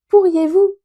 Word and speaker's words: pourriez-vous: Pourriez-vous m'envoyer ce document? Écoutez bien la prononciation. Pourriez-vous. Vous entendez bien la terminaison yé. Pourriez-vous.